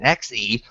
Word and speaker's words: xe: She also suggests Z and ZE and XE, both pronounced Z.